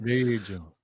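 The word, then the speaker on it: Vergil: And just to picture that long torso of his and what Virgil Ortiz would do to it.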